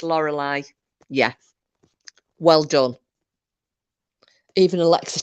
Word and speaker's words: Lorelei: it yeah it spelled slightly different but it's Lorelei yes well done even Alexa tells us to off yeah it's um it's it's pronounced the same however it's spelled l-o-r-e-l-e-i it's a Lorelei I thought that was that